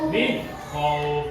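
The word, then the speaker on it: مِنْ خَوْفٍ: Perhatikan semuanya, karena kok ini adalah huruf dari bacaan idhar, kok di depannya ada nun mati, maka bacaan ini cara bacanya itu jelas atau idhar. Gak boleh dengung.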